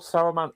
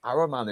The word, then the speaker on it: Saruman: Also, why did they call Saruman Araman in this as well? There's a couple of times where they don't pronounce the S.